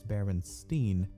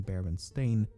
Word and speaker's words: Berenstain: anthropomorphic bears however many remember the name as berenstein and not baron stain i also find it